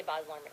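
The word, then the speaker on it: Baz Luhrmann: Isn't it Boz, oh yeah, you're right, Boz Lerman. Do you say it like Basil, Boz? Yeah. No, yeah, you do. You say Boz Lerman.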